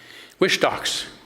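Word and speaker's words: Whistalks: Wishtocks. Wish Yeah. Yeah. W It's it's it's W h i s t a l ks. You want to say wish, but it's wishtocks.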